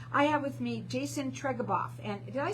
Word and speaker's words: Treguboff: I have with me Jason Treguboff, and did I say it right?